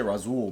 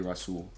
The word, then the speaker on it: Rasul: a pretty common name rasool some people say razool but i've heard it's technically russell it's a hard note we're